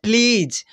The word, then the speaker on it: please: कर ले रहे हैं प्लीज। अब इसको उच्चारण के नियम के साथ कैसे लिखेंगे, तो प आधा देंगे और फिर ल देंगे, और ल में छोटी वाला ई का मात्रा छोड़ कर बड़ी वाला